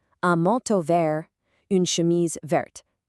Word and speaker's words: verte: chemise verte.